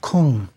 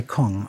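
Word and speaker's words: !Kung: in particular the so-called Kung. Now, I'm not really pronouncing that correctly. If you've seen it spelled, it's exclamation point K-U-N-G. The exclamation points stands for a click sound.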